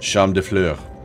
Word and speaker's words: Champs de Fleurs: Champs de Fleurs.